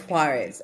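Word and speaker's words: Juárez: like I can hit Juarez with a stone oh it's Juarez okay okay Juarez and then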